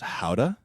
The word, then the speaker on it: Gouda: gouda like the smoked gouda i think it looks it's just um it's pronounced howda and then he turns